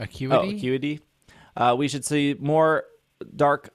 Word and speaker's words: Acuity: A few trainer cards were showed off, which included Arizu, Iscan, Lake Cutie. How do you say that? Acuity. Oh, Acuity.